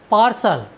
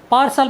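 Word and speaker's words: partial: टी आई ए एल पार्सल पार्सल means होता है पक्षपाती साथियों यहां पर टी के बाद आई ए आया है इसलिए हमने टी का उच्चारण स किया है हमारा नेक्स्ट वर्ड मीनिंग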